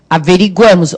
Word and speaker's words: averiguamos: Nós averiguamos, olha lá o que sublinhei o A.